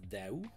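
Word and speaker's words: Daoust: That's how you would pronounce that in French, by the way. That's a French name. And I don't know how Americans or English speakers would try to pronounce that last name, but it's pronounced Daou. The ST at the end is silent, believe it or not.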